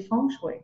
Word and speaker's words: Feng Shui: Parce que tu sais, le chinois, c'est une langue qui est chantée aussi. Donc, c'est ça, la bonne prononciation, c'est Feng Shui.